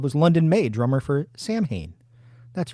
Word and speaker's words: Samhain: the strip club was London May drummer for Samhain that's right Samhain not Solon um I'm really glad you mentioned it disclaimer